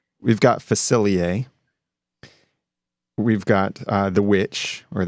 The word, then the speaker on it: Facilier: Facilier. We've got Facilier.